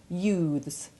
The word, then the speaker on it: youths: The sound becomes hard in truths, youths and mouths.